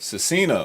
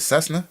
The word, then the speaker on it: Cessna: to Purdue University uh how you say it Cina 172 is a four-seater single engine aircraft Oh my days it is a high huh you said Cessna Cessna sorry yeah there's no extra sorry about